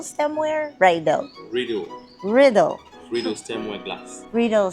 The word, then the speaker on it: Riedel: Presented in a, how do you say, Riedel stemware? Riedel. Riddle.